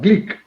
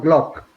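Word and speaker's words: Glück: the nobel prize winner gleek not glock the pronunciation is greek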